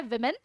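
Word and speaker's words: women: यस, इसका correct pronunciation होता है विमेन, क्योंकि वुमेन इसको बोलेंगे,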